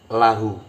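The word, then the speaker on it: لَهُ: Li bertemu hu berarti membacanya lahu. Li bertemu kum maka membacanya lakum. Li bertemu hunna maka membacanya lahunna. Bukan lihunna, bukan lihu, juga bukan likum.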